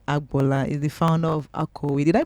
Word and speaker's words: Akowe: Is the founder of Akowe. Did I pronounce it well? Absolutely. How was it? Akowe.